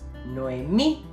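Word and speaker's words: Noemí: silva tonica for example nuemi nuemi is divided into three syllables we also notice that me has an accent mark making it the stressed syllable so the name is pronounced no me because of that accent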